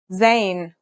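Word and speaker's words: ز: a dot on top in terms of pronunciation you say just like the english z as in zebra or al jazeera practice saying al jazeera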